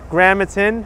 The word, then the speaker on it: Gramatan: And I'm pronouncing the street right. Gramatan. That is.